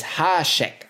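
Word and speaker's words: háček: do you like it the acute accent means that the vowel is long so Hasek the a on hash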